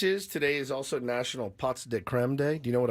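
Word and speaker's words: pots de crème: Do you know what a pot de creme? Oh, it's pronounced. Listen to this pot de creme. Is it really? Yes. It's not pot de creme. It's just pots. Pots de creme.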